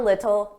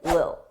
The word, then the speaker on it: little: Notice I didn't pronounce those T's. I pronounce them as soft D's. A little, little the the little. And I connected them together a little, a little. Now sometimes native speakers will completely drop those d's and they won't pronounce it at all, and it will sound like Lil.